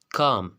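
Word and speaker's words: calm: अब ये word L कब साइलेंट होगा, रूल ये है अगर किसी लफ्ज़ में एम एफ के डी से पहले एल आता है तो वो एल हमेशा साइलेंट होगा। जैसे कि आपके पास कुछ एग्जांपल्स हैं, काम, काम। अब यहाँ पर देख ले एम से पहले क्या आ रहा है, आपके पास एल आ रहा है, तो ये वर्ड एल जो है साइलेंट होगा, काम यानी सुकून।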